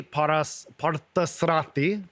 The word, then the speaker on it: Parthasarathy: Her name is Parthasarathy. Yeah. Did I say it right? Yeah, Okay. Parthasarathy.